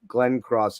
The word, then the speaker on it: Glencross: and I hope I'm saying it right, Glencross. And did I say it right? You absolutely said it right, Jeff.